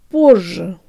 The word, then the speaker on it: позже: little now the whole thing draw tongue lips Portia Portia not border with a short or shallow